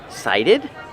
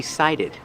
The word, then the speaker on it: cited: You will be cited. You will receive a citation. Pronunciation. Cited. The T makes a fast D sound.